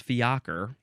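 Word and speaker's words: fiacre: acre but it's say it tells me it's fiaker this is a noun from 1698 the plural says it's the same pronunciation but you put an S at the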